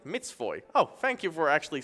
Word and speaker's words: mat1jaczyyy: By the way, my nickname is pronounced like Mitzvoy.